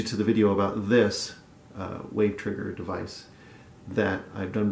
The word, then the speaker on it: WAV: Robert Sonic's wave trigger a wave is just the WAV extension of a sound file I pronounce it wave so this was a